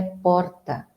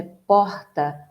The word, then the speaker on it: porta: Em São Paulo, a pronúncia é porta, com esse R vibrante. No Rio de Janeiro é porta, O R, ele vem aqui embaixo, retroflexo, que nós chamamos. E em Mato Grosso do Sul é porta. Então, nós temos porta, porta e porta.